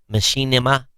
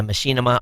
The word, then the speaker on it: Machinima: network uh M uh machine I'm going to pronounce this wrong m d h i n i m Machinima yeah Machinima over allegations that influential YouTube broadcasters were improperly